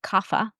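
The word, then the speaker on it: Kapha: And then the third constitution is called Guffa. Here in the west we pronounce it kafa.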